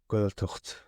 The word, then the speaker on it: Gaeltacht: But now, correct my pronunciation. You grew up in a Gaeltacht. Gaeltacht.